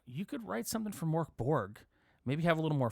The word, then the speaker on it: Mörk Borg: that is one of the coolest things about Mor Borg they really do encourage you to write material